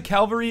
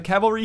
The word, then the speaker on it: cavalry: one I'll probably lose a Calvary a Cavalry here I always mispronounce that apologies uh but assuming